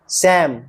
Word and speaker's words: psalm: इसी प्रकार PSALM में P और L दोनों साइलेंट हैं। सैम।